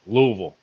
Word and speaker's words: Louisville: By the way, Ben, that's pronounced Louisville.